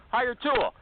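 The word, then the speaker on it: Hiretu: Hire tool. Hire tool. Hire. That's how they say it, like a sneeze. Hire, but they don't spell it that way.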